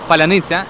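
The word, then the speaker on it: паляниця: take out the accent the word is palanicha and it is hard for a Russian to pronounce it. because these combinations of sounds are very difficult in Russian and almost don't exist in Russian.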